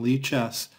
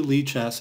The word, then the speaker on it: lichess: for how to use some excellent tools on leaches to help you build and learn an opening repertoire so log in to leaches if you don't have an account it's free